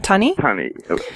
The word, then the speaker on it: Tunny: And so just to be clear for our listeners, this uh tuni, is that the pronunciation correct? Uh tuni or tunn. Tunny. But in North American ter terminology, it would be tuna fish.